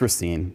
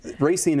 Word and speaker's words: Racine: It's Racine, but okay. I mean. Racine is not wrong.